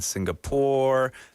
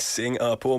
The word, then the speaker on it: Singapore: Like no G, like sing, like a singer.